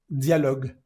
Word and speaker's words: dialogue: En esta palabra que termina con e, pues simplemente llegas hasta la al sonido del g dialog.